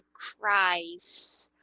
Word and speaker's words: cries: E a pronúncia aqui é cries. Cry, cries. Se você olhar para essa pronúncia, você nem diz que tem E aí, né? Parece que você só botou um S no final. Não é cries, ok? Só vai falar o S aqui, ó, era para